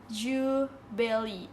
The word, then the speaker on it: Jubaili: Jubaili. Oke, bacanya Jubaili.